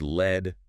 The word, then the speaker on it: lead: And pronounced led rhyming with bed. That's the heavy metal. Okay. PB on the periodic table.